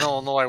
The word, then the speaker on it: Illinois: phonetic there sorry sorry as long as you don't pronounce the s in Illinois we're good we're good